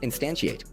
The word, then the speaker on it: instantiate: This is pronounced instantiate.